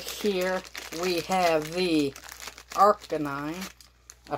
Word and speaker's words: Arcanine: So right here we have the Arcanine. I pronounced that right? Yeah, RK9.